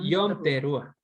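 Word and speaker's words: Yom Teruah: Yom Teruá.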